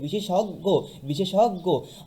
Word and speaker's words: বিশেষজ্ঞ: উচ্চারণ হবে সংবৃত ও এর মতো, যেমন বিশেষজ্ঞ।